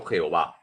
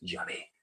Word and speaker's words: Yahvé: cuatro letras sagradas salió Jehová Jehová es un artificio de los masoretas la pronunciación correcta de las cuatro letras sagradas es llave y cuando un judío